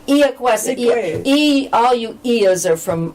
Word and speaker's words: Iacuessa: And I know a man in Orleans who's Italian, and when I go in, he goes, he pronounces it the Italian way. Iacuessa.